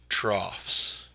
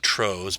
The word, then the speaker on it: trough: things here are called troughs. I know it looks like troghs, but it's pronounced trough.